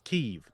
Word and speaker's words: Kyiv: Kyiv and Kiev, right? Sure. What about them? Yeah. Well, like now that Ukraine is taking independence, they're like it's Kyiv. It's not Kiev anymore.